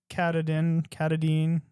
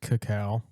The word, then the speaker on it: Katahdin: in the area, Mount Katahdin, one of those. It's pronounced cacao. No, it's not. There's an H in there. Cacao.